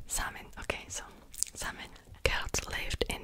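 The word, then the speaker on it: Samhain: came from the ancient celtic tradition festival called samin i've been pronouncing it wrong in my last video too that i filmed the facts about witches and vampires and the pronunciation guide was wrong it's called summon summon okay so simon lived in the area that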